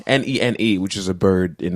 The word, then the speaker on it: nene: like i don't know there's strange ones like nae nae n-e-n-e which is a bird in hawaii or um